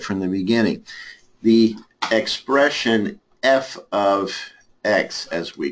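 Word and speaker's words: f(x): in the format of f of X equals 1 minus x squared again that F parentheses X is pronounced it is spoken as f of X f of X how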